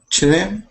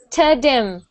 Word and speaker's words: trim: after you finish the T, bring your tongue right down. We only want one time that your tongue touches the top. T, and then rim.